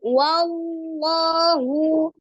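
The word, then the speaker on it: وَاللّٰهُ: fathah lamnya juga fathah pengucapan bunyi huruf wau yang berharakat fathah itu boleh dimajukan dengan kedua bibir Ya karena huruf wau pada saat berharakat Apun dia dimajukan kedua bibirnya wa tapi sebatas wa saja kemudian ketika pengucapan huruf lamnya Kembalikan ke makhrajnya dengan cara penekanan hurufnya lam ya dengan menebalkan wallahu seperti itu ya kemudian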